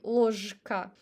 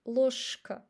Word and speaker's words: ложка: As you see, we don't say ложка. So we pronounce sh instead of zh because of k. So k influence on the previous consonant. Ложка, ложка.